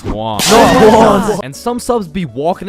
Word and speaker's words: Juan: That's just how it's pronounced. Jan. Is there Jawan in the room? It's Juan.